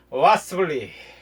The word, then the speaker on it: 와서블리: YS를 갖다가 was 블루베리를 갖다가 벌리 그래서 와스블리 YS 블루베리를 빠르게 발음하는 이름으로 와스블리 예, 블루베리가 왔어 뭐 그런 뜻이기도 하고 YS 블루베리 뭐 그런 뜻이기도 해서 저희 채널 이름을 와서블리로 변경을 했습니다.